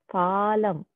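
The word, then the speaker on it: Phalam: what is balachandra mean it's actually pronounced as falam not bala palam pha means front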